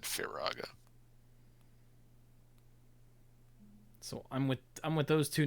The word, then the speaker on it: Firaga: I mean, looking at how it's spelled, you might go Firaga, but I think it rolls off the tongue when you, in the context of the other modes, Fire, Fyra, Fyraga, that sequentially, to me, it makes more sense.